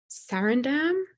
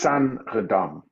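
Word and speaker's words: Saenredam: And there's a Sarandam. Is that how we pronounce that? Sanredam.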